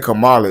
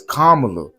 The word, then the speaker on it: Kamala: I'm sorry, I keep saying Kamala. It's Kamala.